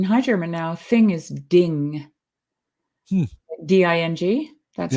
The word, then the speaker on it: Ding: And actually, in High German now, thing is ding.